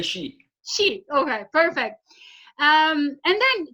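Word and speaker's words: Hsieh: You don't pronounce the H. You just say she.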